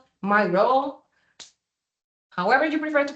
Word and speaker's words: Miro: Okay, the next one, we have Miro. Miro, however you prefer to pronounce it, is a very interactive tool, software, well, website, to be honest, that everyone can be connected.